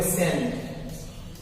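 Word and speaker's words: scent: उसको आप बोलेंगे सेंट। क्या बोलेंगे? सेंट। क्यों? यहाँ पे सी का कोई उच्चारण नहीं है भाई, सी खत्म हो जाएगा।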